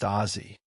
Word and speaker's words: Aussie: Why is it written Aussie but pronounced Azie?